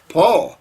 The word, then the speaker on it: Paul: His name is Paul, pronounced the same as Paul.